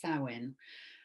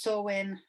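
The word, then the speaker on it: Samhain: spelled s m h a i n but pronounced Sinn um I have seen it pronounced sawin um but SE is the one I shall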